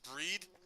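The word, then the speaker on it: Brigid: I think it's pronounced breed and it's spelled B R I G I D.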